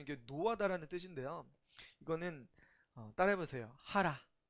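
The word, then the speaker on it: חרה: 하라. 어, 히브리어 발음이 하랍니다.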